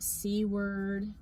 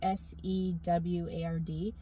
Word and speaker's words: Seward: I was calling it cword. It It's s e w a r d. But I heard other people saying it and it was um seward I think is how you say it.